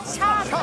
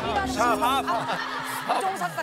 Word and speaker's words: 샵: 삽이요? 샵. 샵. 무슨 발음을 저렇게 해요, 샵을. 아, 일부러 저런 거 좀 넣지 마요. 뭘 넣지 마. 그거 하려고 왔어. 그거 하려고 왔어요. 샵입니다. 샵.